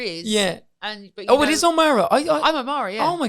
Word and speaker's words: O'Meara: But it is O'Mara.